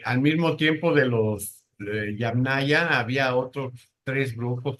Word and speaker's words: Yamnaya: Sí, se dice Yamnaya no me acuerdo cómo se se escribe.